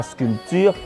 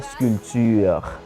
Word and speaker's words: sculpture: avec un P ok ça s'écrit avec P mais on dit pas la sculpture mais on dit la sculpture maintenant nous allons voir